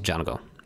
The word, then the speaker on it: Django: And speaking of Tarantino, the musician's name was Django. The D is silent.